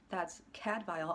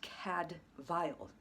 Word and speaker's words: Cadfael: That's Cadfael, although it's spelled C-A-D-F-A-E-L. The Welsh will probably appreciate the fact that I'm not pronouncing it the way they do in the show, which is wrong. It's Cadfael, spelled Cadfael.